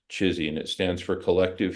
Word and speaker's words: CHSI: context for it so chizy is the acronym chsi pronounced chizy and it stands for